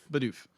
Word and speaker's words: Bidoof: That's how do you pronounce his name? Bidoof.